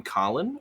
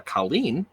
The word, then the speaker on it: Colin: said I am um I am Colin or uh Colleen if you want to pronounce my name incorrectly um and I uh